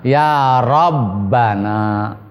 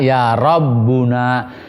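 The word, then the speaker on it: ربنا: Iya, asalnya mah ya Rabbana. Tidak boleh dibaca ya Rabbuna.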